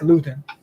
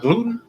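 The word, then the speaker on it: Luton: his name again please jake lewton not gluten not gluten it's gluten free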